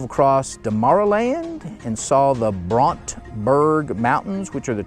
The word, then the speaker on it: Brandberg: eight, we drove across Demarland and saw the Brontberg Mountains, which are the tallest mountains in Namibia. And again, Brontberg is spelled Brandberg, Berg G, Brandberg Mountains, but they pronounce it Brontberg Mountains.